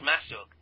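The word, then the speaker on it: Masuch: That's Klaus spelled with a K. Masuk is M-A-S-U-C-H. Klaus Masuk.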